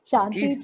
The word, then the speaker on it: Shanti: The presenter will be Shanti. Right, Shanti? Yes, Shanti, please say.